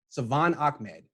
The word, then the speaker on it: Salvon Ahmed: thanks so much for doing how do you pronounce his name yes Savan Achmed the 49ers recently signed him as an undrafted